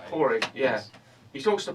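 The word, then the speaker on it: Pádraic: It's not spelt that way. Yeah. But I think it's pronounced that way. Porig, yeah.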